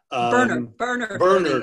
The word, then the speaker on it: Bernard: Bernard. It's the Irish pronunciation.